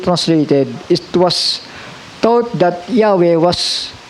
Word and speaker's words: Yahweh: it was thought that Yahweh was pronounced Jehovah. So kayo, nagkamali pa rin si King James dito. It was thought, inisip nila that yung YHW na yun ay pronounced as Jehovah.